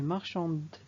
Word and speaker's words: marchand: Une marchande, donc le masculin c'est un marchand avec T, mais il ne se prononce pas.